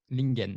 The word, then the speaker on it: Ling-en: Il s'appelle Lingen. Alors, j'espère que je prononce très bien le prénom. Parfaitement. Lingen, c'est ça.